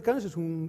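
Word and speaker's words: Cans: se llama cannes y todos sabéis cómo se pronuncia aquí en españa en galicia cannes como el can francés y empezamos con una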